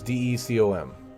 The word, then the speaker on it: Decom: So it's D-E-C-O-M. Just a real quick shortcut pronunciation. Decom.